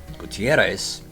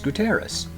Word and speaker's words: Gutierrez: street in Santa Barbara, with a bit of a roll to the double R, and when the locals laughed at me, I learned that the correct way to pronounce it was Gutierrez.